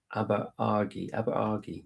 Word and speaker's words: Aberargie: Aberargie. There we are. That's my pronunciation.